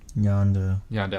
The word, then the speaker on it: Yondu: Is it Yondo or Yondu? Yondo. Okay. I'm saying it right.